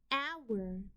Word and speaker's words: hour: Hour, ow-er, hour. The OU in this word is a part of the sound spelling patterns. OU makes the ow sound.